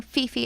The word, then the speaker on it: Phi Phi: to talk to you about monkey beach on peepee island in thailand yes it is called peepee island all of thailand that kind of made me uncomfortable so i'm saying fifi island but it is pp island they pronounce